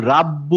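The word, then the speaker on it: رَبُّ: ওয়ায়ামনাউনা ওয়ায়ামনাউনা আইনের উচ্চারণটা গলা ভাঙা ওয়ায়ামনাউনা ওয়ায়ামনাউনা আচ্ছা রয়ে কি হবে রোলিং হবে রব্বু আমি কিন্তু কেন তোমাকে আমার চেস্ট আমি করতে হয়? I আমি don't কিন্তু like it. আমি কিন্তু রাব্বু বলবো না হ্যাঁ আমরা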